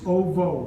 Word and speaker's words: ovo: or is it as OV? It's ovo. Ovo.